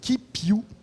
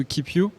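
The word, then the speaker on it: KipYou: Et nous allons donc maintenant découvrir Keep You. Keep You. Là aussi c'est un jeu de mots. Hein. Oui. Ça s'écrit pas comme ça s'écrirait en anglais.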